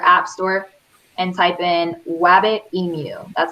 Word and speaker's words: Wabbitemu: Okay, go to your app store and type in Wabbit Emu. That's how you spell it.